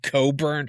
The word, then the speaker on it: Cockburn: Her real last name is Coburn. It's spelled like Cockburn, folks, but it's pronounced Coburn.